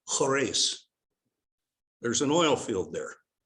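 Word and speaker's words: Khurais: well this little place k-h-u-r-a-i-s pronounced horace there's an oil field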